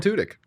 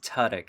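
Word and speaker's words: Tudyk: the background movie yeah i' agree Love Alan tudk I Do Love Alan tudk it's pronounced TK actually but I don't expect anyone to actually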